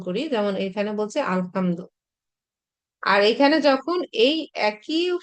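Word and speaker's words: الحمد: হয়, যার কারণে আমরা সূরা ফাতিহাতে দেখেছি কি আলহামদু, এই জন্য উচ্চারণ করার সময় দেওয়া যায়, কিন্তু লেখার সময় কোনোভাবেই দেওয়া যাবে না, দিলে সেটা গ্রামাটিক্যালি রং হবে।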